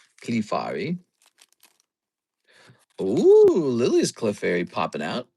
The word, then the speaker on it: Clefairy: That's how you say it, by the way. Clefairy.